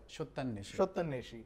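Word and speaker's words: Satyanweshi: In Rituparna Ghosh's film, his last film actually, Satyan Veshi. Am I pronouncing it right? Shottan Neshi.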